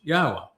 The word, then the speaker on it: Yahweh: able to prove emphatically that Yahweh's name is pronounced Yahwa.